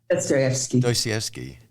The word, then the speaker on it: Dostoevsky: Dostoevsky, who Crime and Punishment.